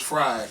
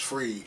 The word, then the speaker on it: Fried: time i thought that man's last name was fried but it's free pronounced free spell fr ied but pronounced free